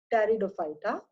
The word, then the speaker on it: Pteridophyta: P is silent, Pteridophyta.